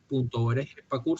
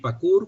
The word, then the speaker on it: PACUHR: PACUR se escribe P-A-C-U-H-R. Es decir, PACUR con H intercalada después de la U.